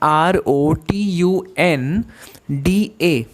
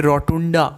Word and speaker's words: rotunda: अब देखो अगला वर्ड जो है ROTUNDA। तो ये जो ए है, अब आप बोलोगे रोटुंडा, नो, that is the wrong pronunciation. For that you need to say rotund.